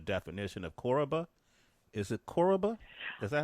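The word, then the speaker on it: Koroba: ask you the definition of koraba is it koraba is that how you say it yes what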